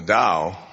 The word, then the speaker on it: Tao: something called the da D Ching now the Dao the Ching Tao it's pronounced d but it's Tao Tao Ching the